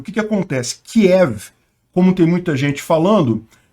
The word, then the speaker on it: Kiev: very different, of course, from the Russian version, K-I-E-V, Kiev.